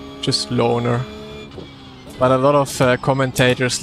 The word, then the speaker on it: Löhner: Löchner, or what most people say, or Löw. But, the best pronunciation is Löhner. I accept I accept Löhner in like an English way of speaking it.